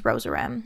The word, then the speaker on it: Rozerem: That's the class, and the drug is Ramelteon, and the brand name is Rosarem. And we remember that because rose rhymes with doze, and you can think of REM like REM sleep, which is the good kind of sleep.